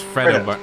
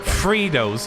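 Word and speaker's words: Freddo: It's Fredo bar. Yeah, it's Fredo bar. Fritos. Who pronounces it Fritos?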